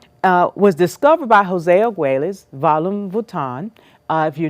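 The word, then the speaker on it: Argüelles: law of time uh was discovered by jose agueles volume vutan uh if you're not familiar with him i suggest that you do some deeper diving investigation jose agueles his last name is spelled a-r-g-u-e-l-l-e-s okay and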